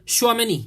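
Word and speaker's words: Tchouaméni: Tchouameni tulisannya, jadi dibacanya Tchouameni ya itu.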